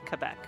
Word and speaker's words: Quebec: So I will say Quebec. It is pronounced like that according to my friend in Quebec.